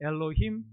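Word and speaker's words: אֱלֹהִים: 오른쪽에서 왼쪽으로 있는데 가운데 제가 동그랗게 동그라미 표시돼 있는 거 저 단어가 발음을 엘로힘이라고 합니다. 엘로힘 그리고 가심입니다.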